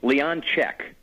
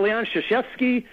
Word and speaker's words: Leonczyk: we've talked you know people I've got Leon shashki I got Leon Leon you know whatever just